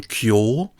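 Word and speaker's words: 京: This one has the pronunciation kyo and means capital.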